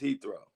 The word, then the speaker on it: Heathrow: How do you pronounce it? Heathrow? Okay, good. Thank you. It's Heathrow.